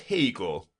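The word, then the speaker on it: Haigha: happy his name is hegel he pronounced it to rhyme with mayor i love my love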